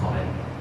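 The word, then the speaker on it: حاء: দেখুন হা হা বন্ধুরা এই হরফটি উচ্চারণ করা হয় আমাদের যে গলা রয়েছে আমরা এটাকে কন্ঠ বলি হল বলি এটা তিন ভাগে বিভক্ত এই কণ্ঠের শুরু মধ্যখান এবং শেষ ভাগ এই গলা এবং কণ্ঠানের মধ্যখান থেকে এই হরফটি উচ্চারিত হবে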